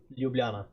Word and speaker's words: Ljubljana: Uh just before I go, can you pronounce uh Ljubljana? It's not um It's Yeah, it's Ljubljana.